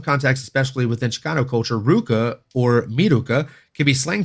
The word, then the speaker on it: RVCA: supposed to be pronounced Ruka for some reason for years um so yeah RVCA is supposed to be pronounced Ruka it's weird because it's a v but it's it's Ruka sport I don't know